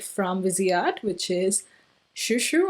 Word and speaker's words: Chou Chou: busy art which is Shu Shu I believe the way you pronounce it but the writing is ciaochao I'll put it up